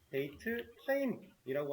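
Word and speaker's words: DATETIME: 되고요이 녀석의 데이터 타입으로는 데이트 타임이라고 하는 녀석을 쓸 거예요 발음에 주의를 해주세요 데이터 타입으로 데이터 아 데이터 타입으로 데이트 타임을 쓰겠다 이렇게 자 그럼이 녀석도 위치가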